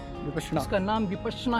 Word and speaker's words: विपश्यना: विपश्यना का मतलब है विशेष प्रकार से देखना, और विपासना का मतलब उल्टा हो जाता है। तो सबसे पहली बात है कि इसका जो उच्चारण जो है वो विपश्यना है।